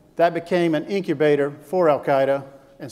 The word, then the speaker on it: Al-Qaeda: never heard of them we we didn't even pronounce their names right we were calling them Al-Qaeda well 7 years later we found out they're called Al-Qaeda and since we didn't finish the job keep